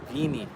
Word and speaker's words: Vini: So they told me um they pronounce their eyes like E. Vini. Vini said, "Um, there's a lot of racism."